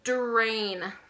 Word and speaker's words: drain: So this is a drain. Drain. If we hear it, listen to the beginning. Drain. So it's spelled with a DR, right? Sounds like TR, but it's not.